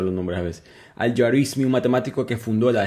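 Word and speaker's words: Al-Juarismi: Conoce Aljar Yaruismi, perdón que me cuesta pronunciar los nombres a veces. Al Yarismi, un matemático que fundó el Gebra.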